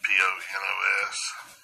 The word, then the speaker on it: ponos: Now, the derivative in the etymology, this is from a derivative of 4192, which is, looks like Ponos, P-O-N-O-S. If y'all have it, pronounce that for you.